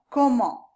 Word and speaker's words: comment: Comment, the T is silent, but when the following word begins with a vowel, an A, for example, then we pronounce that T.